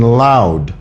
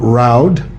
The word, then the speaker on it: loud: pretty sure you mean loud and clear it's an l sound it's not roud and clear that's wrong say it